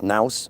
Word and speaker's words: nous: I know what the nous, I didn't know it was rhymes with mouse, nous.